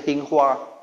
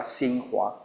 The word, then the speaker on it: Xinghua: Yang namanya kalau bahasa Inggris bacanya Hinghua. Kalau Chinese ya Xinghua.